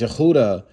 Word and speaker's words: Judah: none shall open them Judah which is pronounced Yehuda right shall be holy be carried away captive all of it.